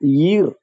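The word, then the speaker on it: Ur: Actually ഊർ എന്നുള്ളത് ഒരു സ്ഥലപ്പേരല്ല, പട്ടണം എന്നതിന് അർത്ഥമുള്ളൂ. ഈർ എന്നാണ് ശരിക്ക് പറയേണ്ടത്. ഈർ ഹീബ്രുവിലെ ഈറാണ് നമ്മൾ ഉച്ചാരണം കൊണ്ട് ഊർ എന്നാക്കുന്നത്. അപ്പൊ അത് ഈർ ഊർ ഇത് രണ്ടിന്റെ ഇടയ്ക്കാണ് ശബ്ദം കിടക്കുന്നത്, ഊർ എന്നാണ് പറയേണ്ടത്.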